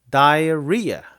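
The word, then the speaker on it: diarrhea: 아주 중요한 단어가 알아두세요 강세가요 다이어리아 리아에 있어요 그래서 다이어리어 이렇게 발음하시면 되고 철저하게 어려워요 이거 저도 잘 못써요이 단어 Dia 일단 다이아 다이아 다이아몬드 할 때 다이아 여기까지 똑같죠 그 다음에 리아가요 그래서 다이어리아 다이어리아 다이아몬드가 아니라 그러면은요 설사해요 빨리 그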